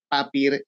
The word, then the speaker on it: Papier: costó aprender que aprender que se pronuncia así no tal cual se lee Claro claro tiene una palabra alemana cierto Bueno a papier llego